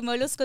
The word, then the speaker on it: Molusco: partenariat avec la télévision molousco comment on le prononce molusco oui molusco TV alors molusco c'est le journaliste référence de